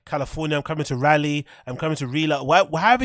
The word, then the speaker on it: Raleigh: or in British English we would say rally as in the same way you pronounce like a rally car that's what you'd pronounce